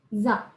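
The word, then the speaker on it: ざ: Maka untuk sa, kalau kita kasih dakuteng ya, cara bacanya jadi za. Jadi buzz gitu, buzz. Jadi dari sa ke za ya.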